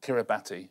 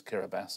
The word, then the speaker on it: Kiribati: There's loads of countries I used to mispronounce on point. Go on. Kiribati, which is Kiribati, apparently.